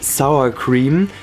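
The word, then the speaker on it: sour cream: ist wieder als anglizisme im Deutschen falsch ausgesprochen denn bitte sourcam weil man sagt ja auch nicht ne York oder Surfbrett sondern New York und Sir BR also denkt bitte daran das nächste Mal sagt bitte sourcam oder ihr sagt das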